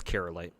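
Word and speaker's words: Kyrielight: he's not wrong um you just pronounce that as carolite no need to emphasize the uh uh the e at least I don't think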